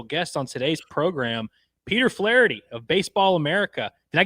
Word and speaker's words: Flaherty: a very special guest on today's program, Peter Flity of Baseball America. Did I get the name right? Did I Did that sound good? Flity. Nailed it. Nailed it. Like Jack Flity.